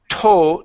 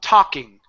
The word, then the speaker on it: talking: in California okay so instead of saying tow talking it's aa aa open your mouth more tah talking Popkin that's more of an AH in the u.s. it's an ah sound okay so we say